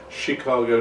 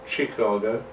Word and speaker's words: Chicago: be in Chicago and I've been told I've been pronouncing it wrong all these years is Chicago not Chicago but what do you expect